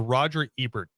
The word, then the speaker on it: Roger Ebert: he was usually very harsh is roger or roger ebert is the best that's how you actually pronounce it but he's he was chicago tribune